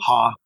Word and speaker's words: Haugh: of KD Couplers, Frank Ha. There you go. Yeah, from Katie. Yeah. How do you say that? HAUGH. Huh? Oh. Ha.